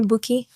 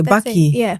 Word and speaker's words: Bukky: What is the correct pronunciation of your name? So, you can call me Bookie. Bookie? What did I say? Baky.